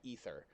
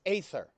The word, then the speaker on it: aether: I hate the fact that they pronounce that ether. I'm like, no, when the A is in front of the E, it's aether.